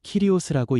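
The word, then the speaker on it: κύριος: 여기서 주라는 말은 헬라어로 키리오스라고 읽습니다.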